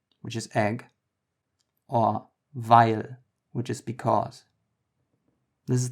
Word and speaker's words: weil: Together, they don't form EI, but instead they form I. So imagine there was an A, even though it's not spelled that way.